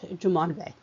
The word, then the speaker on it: Jumonville: and Indian War at Jumonville Glen, spelled with two L's, but pronounced as a Y, since it's French, Jumonville.